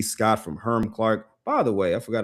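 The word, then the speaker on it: Hiram Clark: Um, and again, by the way, for those out there, it's not pronounced Hyram Clark. It's Herm Clark.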